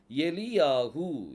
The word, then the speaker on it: Eliyahu: கடைசி மூணு எழுத்து அந்த யோது வந்து காமனா இருக்கும் எலி யாகு எலி யாகு அப்படின்னு சொல்லி வருது உச்சரிப்புல அப்ப எலி அப்படி எலி அப்படிங்கறது ஒரு உச்சரிப்பு